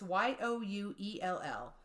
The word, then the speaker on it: Ewell: Now, there was a suspect, Ewell, I think that's how you pronounce it. It's Youell.